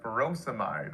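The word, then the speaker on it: furosemide: and potassium sparing diuretics potassium wasting ends in ey like feros amide or hydrochlorizide both rhyme with dried but again be careful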